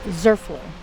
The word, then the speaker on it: Zurfluh: Zerlu. Zerlu.